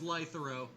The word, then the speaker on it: Lythero: Lythero. It's Lythero. I'm not gonna get fucking called out for pronouncing it wrong. It is Lythero.